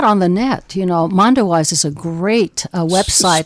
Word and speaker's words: Mondoweiss: You know, Mondowise is a great website. Spell that one.